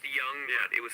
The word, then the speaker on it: Jung: Or as Tony called them at one point, the Jung Dragons. Right. How would he know any different? What, Tony? Yeah. Well, they actually spelled it with a J. Yeah, pronounced Young, they so spelled it J.